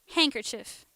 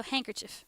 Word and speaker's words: handkerchief: So handkerchief, but like the the the top of the word is the emphasis and the international accent for that is handkerchief.